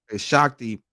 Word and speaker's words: Shakti: she she you say her name shaki it's pronounced shaki Shakti perhaps grew out of the conflict and eventually